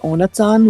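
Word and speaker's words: Ohnezahn: Also, fun fact: in the German version, they literally translate his name, and it's pronounced Onatsan, which literally translates to without teeth.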